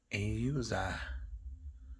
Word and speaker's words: AUZAI: AUZAI. Yeah, that's how you pronounce it, but super lightweight.